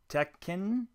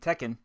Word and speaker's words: Tekken: Tekken. I did see a video where someone says pronounce both K's, so I'll do that. And Ridge Racer. Now, I had played Tekken.